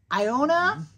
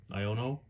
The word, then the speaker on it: Iono: I've butchered 75% of these. Atticus. Mashold. Oh, I'm struggling. Iona. Iono.